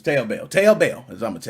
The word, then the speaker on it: Taobao: I don't know how you pronounce that. Is it Taobao? Taobao? I don't know. It's Taobao.